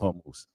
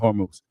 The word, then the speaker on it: Hormuz: And then for the point of the problem is right now, they won't open the Straits of Hormuz.